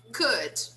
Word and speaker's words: could: Could, could. This one here, wrong, wrong. We don't pronounce the W.